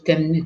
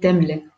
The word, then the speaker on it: тәмле: Нет, Может, это просто произнос так, может... деревняк, деревенский вот такой говор. Темный, темный. Так быстро говорят, ой, темный, темный. Нет, темле.